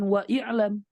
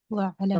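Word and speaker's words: وَاعْلَمْ: Maka kita bilang bukan wa i'lam, Wa'lam. tetapi wa'lam. Kenapa? Alif ini berada di tengah. Ketika digabung dengan yang lain, maka dia gugur dalam segi lafaz, dalam segi pelafalan saja.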